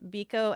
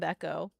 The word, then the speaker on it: Beko: Yeah, I accept both pronunciations, Biko and Beko.